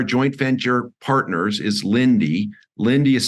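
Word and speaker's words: Linde: one of our joint and your partners is Lindy Lindy is spelled l-i-n-d-e they're 170 180 billion dollar market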